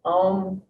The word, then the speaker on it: Om: Traditionally, when you chant an ohm, there's 3 parts to the sound. Ah, oh, when you break it up like that, so instead of just saying om, om, om, you're breaking up the syllables of om, and the first syllable is one.